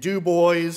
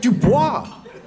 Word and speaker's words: Dubois: i learned where towns like johnstown and and dubois and altoona and bedford you know i got